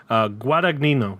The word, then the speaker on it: Guadagnino: Then for the second movie of that day, I watched Bones and All, directed by Luca Guadagnino, I think is how you pronounce his last name. Guadagnino, yeah, Luca Guadagnino.